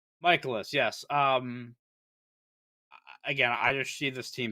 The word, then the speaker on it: Mikolas: Michaelis, yes.